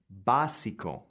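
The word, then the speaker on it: básico: need to put the stress on the word. So, it's basico and not necessarily baso or baso. And what you'll notice is with all of these IC nearperfect cognates, the accent goes on the syllable just before the ico.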